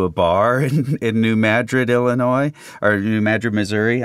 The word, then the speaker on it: Madrid: Coast um sensibility accent by pronouncing it like Madrid Spain but pronounced Madrid um do you yeah do you that's well